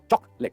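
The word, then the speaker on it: chocolate: चॉकलेट नहीं, चॉकलेट। Chalk होता है ना लिखने वाला चॉक, चॉकलेट, एलईडी वाला लेट, तो चॉकलेट, सो दैट्स चॉकलेट।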